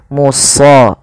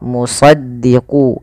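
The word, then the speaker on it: مُصَدِّق: Muso sh ya. Bukan hanya muso ya, bukan e bukan so tapi dia musaddiqo musaddiqu gitu ya.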